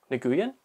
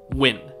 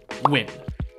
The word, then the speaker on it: Nguyen: five hours later and i finally learned how to pronounce this name ready write this down win i'll say it again win and there it is